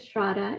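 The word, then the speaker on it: Shraddha: you shradda yes so my name is shrada it rhymes with Prada um I help share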